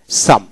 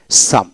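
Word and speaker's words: psalm: তারপর এস এল এম সাম এখানে পি উচ্চারণ হবে না এল উচ্চারণ হবে এস এম সাম প্রার্থনা সংগীত সাম তারপর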